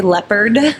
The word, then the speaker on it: Leppert: how to spell it is leopard like the animal but with a t on the end and then they can say leopard pretty simply so because it